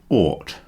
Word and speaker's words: ought: The first word on the list is ought, as in ought to, which is a modal auxiliary verb, which means the same as should.